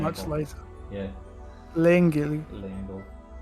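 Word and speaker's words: Leangle: Langle. I love taking the official pronunciations from the Deca driver, the way it says things. Langle.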